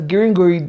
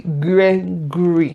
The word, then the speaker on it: Gregory: Apparently, what was pronounced as Gringori then is actually Gregory.